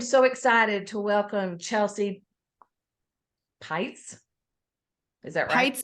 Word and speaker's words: Peitz: the opportunity to say it rhymes with lights I love it I